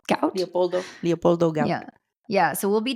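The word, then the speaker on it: Leopoldo Gout: Leopoldo Gaup.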